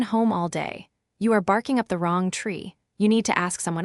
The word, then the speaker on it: barking up the wrong tree: The heavy stress lands on the word wrong, barking up the wrong tree.